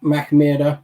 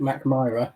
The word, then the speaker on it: Mackmyra: Same for me, Mackmyra. I'm sure there's people watching that call it Mack-My-Rah, and I don't think either are exactly right, are they? Well, I would say Mackmyra, okay.